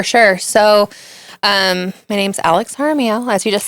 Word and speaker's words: Jaramillo: So my name's Alex Jaramillo, as you just said. Jaramillo, yes.